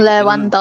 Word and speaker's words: Lewandowski: Lewandowski.